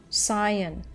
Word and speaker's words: scion: Pronunciation. Scion.